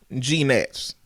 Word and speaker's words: gnats: I got to say gnats him GS silent G why didn't Lil Wayne